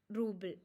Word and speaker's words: rubble: rubble means or uh the exact pronunciation of this bird is ruble okay and it it